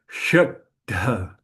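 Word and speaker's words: श्रद्धा: In correct pronunciation, we should really make a little stop here. It's like shraddha.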